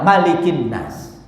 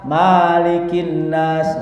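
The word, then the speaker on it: مَلِكِ النَّاسِ: penguasanya yang sempurna perbuatannya enggak boleh bacanya malikinas enggak boleh Maliki yaumiddin berbeda dengan Maliki yaumiddin fisuratin Fatihah jadi harus malikinnas atau robbinnas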